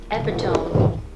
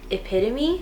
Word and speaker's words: epitome: hope so because in senior year i said epitome and my teacher was like epitome and i was like i also want to